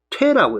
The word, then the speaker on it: 推: 할 때도 추라고 읽지만은 물리적으로 문을 밀고 사람을 밀고 할 때는 퇴라고 했습니다 퇴라고 그러니까 여기서는 퇴라고 이런게 맞습니다 그래서 산영 퇴불출이니까 산그림자가